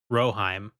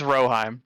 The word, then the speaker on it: Rohirrim: Ro rohim rohim rohim roheim Ro it's r o h i r r i m it's roheim just trust me okay that's what I